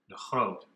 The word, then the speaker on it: de Groot: Dutch chess grandmaster Adira de groot or as it is pronounced in Dutch the hold the group mentioned in